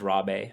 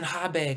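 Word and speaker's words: Rabé: and it's funny because my last name is rob a but you know in portuguese um they pronounce a lot of ours as like h's he's all right jordan habe come get your purple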